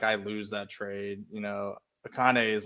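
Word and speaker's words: Achane: Is it Akane? Is that how you pronounce it? Yeah, Achain.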